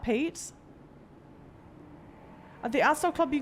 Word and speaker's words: Pate: We're sure it's not plate, right? It's pate. And you pronounce it like that, pate?